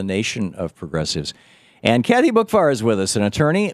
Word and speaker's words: Boockvar: But it's spelled BOOCKVAR, even though it's pronounced as if the C was not there, Boockvar.